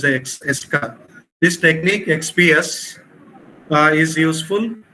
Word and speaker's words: ESCA: But nowadays, this ES electron spectroscopy for chemical analysis, ESCA, normally it is pronounced as ESCA.